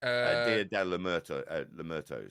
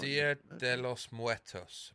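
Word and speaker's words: Día de los Muertos: Dia de la Muertos. Is that right? Dia de los Muertos.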